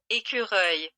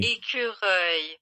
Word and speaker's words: écureuil: So I want you guys to try and pronounce squirrel. All right. You ready? Écureuil. E-Q-R-E. Écureuil. No, but there's like these rolling... Chiari. Écureuil.